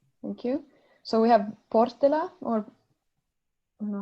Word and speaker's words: Portela: So we have Portela, or I don't know how to pronounce it. It's Portela. Portela.